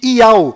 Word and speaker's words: Yauh: enviado do Criador, pois o nome do Criador é Iau, e a última letra do seu nome tem som de H mudo, do qual não altera a pronúncia deste nome.